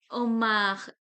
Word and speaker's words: homard: Omar. We will not pronounce the last letter consonant, so it will be omar.